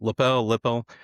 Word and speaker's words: Lippel: Lippel.